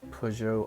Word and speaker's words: Peugeot: Look at this Peugeot RCZ, to say it correctly, I guess, over there.